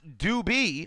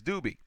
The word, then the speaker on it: Dube: the upset Dube says pronounced do B oh well there it is it's do B well good enough loving